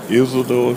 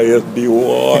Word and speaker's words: Isidore: Isidore. Nah, I'm gonna tell you how to spell that Isidore. I just use I. Isidore. Most people they make a mess of that Isidore. Isidore.